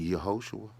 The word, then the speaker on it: Yahoshua: And you can pronounce his Hebrew name properly. It's only Yahoshua.